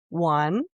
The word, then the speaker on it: Juan: His name is Juan, Juan, and he says, you know, my name is Juan. Yeah. But everybody over here just says Juan. No, Juan. He wants them to pronounce it.